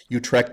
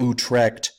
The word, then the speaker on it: Utrecht: the you of Utrecht Utrecht is spelled kind of like it sounds to me it sounds a little bit like a sound a cat would make as its vomiting but who trekked you TR e CH T